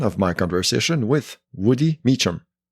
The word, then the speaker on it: Meachum: I apologize that's fine it's pronounced meum so it's like uh meum yeah the the origin